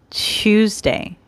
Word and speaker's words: Tuesday: this word tuesday so think of twos choose tuesday tuesday tuesday wednesday so